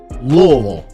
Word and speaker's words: Louisville: say Louisville like it's you got to say it like the people that are from there it's pronounced Lille there we go a